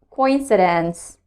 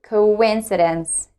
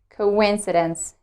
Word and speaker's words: coincidence: words are coincidence and oasis i used to pronounce the first word like coincidence but now i've discovered that it should be pronounced like coincidence coincidence when it comes to second word i used